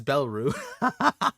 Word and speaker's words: Belarus: Oh, it's Belru. I've been saying it wrong this entire time.